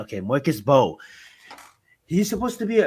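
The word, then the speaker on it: Mbow: But before I do, I just want to say, man, Marcus Mabo. This guy is I supposed think to it's be Marcus an Bow. early Mo. No, he's the M is silent. Okay, Marcus Bow.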